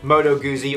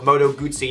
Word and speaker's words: Moto Guzzi: on for this is the moto guzzi or moto guzzi depending on how you want to pronounce it or where you are motorcycles and in a